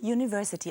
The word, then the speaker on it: University: Sie sehen und hören hier also das Wort Universität, wird im Englischen University ausgesprochen und hat damit schon keinen gesprochenen Vokal mehr am Anfang, sondern ein J, einen Konsonanten.